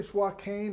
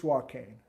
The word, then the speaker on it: Swakane: in their life and is it really swat cane or suacan it's soil cane i texted randy lewis